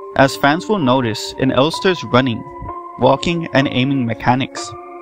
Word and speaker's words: Elster: The protagonist is an android named LSTR, pronounced Elster, who wakes up in a seemingly abandoned spacecraft called Penrose 512 that crashed on an unknown planet.